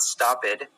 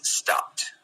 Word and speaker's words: stopped: T sound at the end so it's not stop it it's stopped stopped it's not laughs it's not laughing its